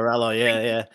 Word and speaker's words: Borralho: You might have to help me there, Sam, the pronunciation. Yeah, Borralho, yeah.